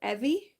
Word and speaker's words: Evie: It's Evie that rhymes with heavy, so Evie.